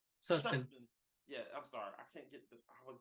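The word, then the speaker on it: Sutphin: why I went with Beverly Steuben, if I got the wrong, Suchbin. Suchbin.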